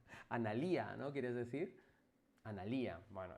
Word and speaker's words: Analía: Eh, mi nombre es Analia con acento en la I. Bueno, pues nada, pues lo siento mucho, no he dicho el acento en la I. Analía, ¿no quieres decir?